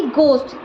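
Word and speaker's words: ghost: हो साथ में मतलब के बाद अगर हा आता है तो हा साइलेंट होता है जैसे जी हा ओ एस टी घोस्ट अब ये घोस्ट नहीं है घोस्ट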